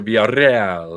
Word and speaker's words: Villarreal: He's giving it the double R. So Villarreal. That's how it's supposed to be pronounced. You got to do the.